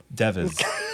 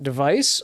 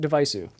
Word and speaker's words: DEV_IS: and we know that it is not an app devis like we thought last week thank you for clarifying how you pronounce it because I actually had no idea when you said it just now was the first time I learned how to say it uh you can pronounce it device or uh if you're speaking with a Japanese accent deviceu but that's kind of